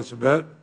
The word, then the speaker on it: Sabet: Our next witness is Kevin Sabet, who is the co-founder, did I pronounce that correctly?